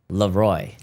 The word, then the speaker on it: Leroy: Leroy.